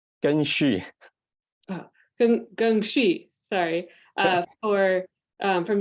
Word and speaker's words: Geng Xu: Is that correct pronunciation? Geng Xu.